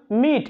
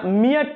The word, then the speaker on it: meat: মিট, আমরা এটা মিয়াট পড়ি না বা মিয়াট পড়ি না, এটা বলি মিট, এই যে ই, মিট এ সাইলেন্ট।